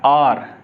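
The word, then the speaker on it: hour: वो वॉवेल होता है, तब एच साइलेंट हो जाता है और वॉवेल का साउंड निकलता है आर। इसे हम क्या पढ़ेंगे, इसे हम पढ़ेंगे आर, नॉट हावर, इसे हम पढ़ेंगे आर, ठीक।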